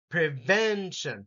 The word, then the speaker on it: prevention: syllable emphasis hygiene diet the next four have second syllable emphasis prevention prevention prevention immune system IM system